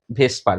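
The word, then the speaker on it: VSEPR: Valence shell electron pair repulsion theory, যাকে বলা যায় ভেসপার theory, pronounced as ভেসপার VSPR theory।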